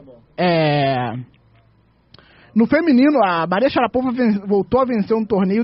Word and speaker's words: Sharapova: Sabe que a gente fala Sharapova errado, né? Como é que é? É Maria Sharapova. Sharapova.